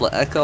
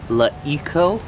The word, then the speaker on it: LeEco: Um, La Eco, first of all, it's not pronounced Le Eko. I learned today it's called La Eco.